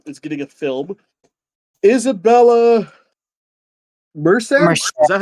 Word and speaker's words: Merced: Isabella Merced?